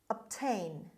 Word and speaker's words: obtain: so word number five obtain obtain obtain as you see the stress is until on the second syllable obtain means get or